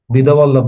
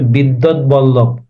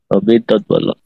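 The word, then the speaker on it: বিদ্বদ্বল্লভ: উচ্চারণটা কঠিন স্যার এটার উচ্চারণ আমি ক্লাসে বলছিলাম বিদবল্লভ না এটার উচ্চারণ হবে বিদ্যৎ বল্লভ বিদ্যৎ বল্লভ ঠিক আছে বিদ্যৎ বল্লভ আচ্ছা এই শ্রীকৃষ্ণ কীর্তনকে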